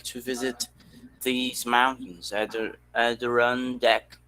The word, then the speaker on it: Adirondack: visit these mountains either at the run deck adirondack yes yeah i think the the stress is on the first syllable they say yeah adrian yeah me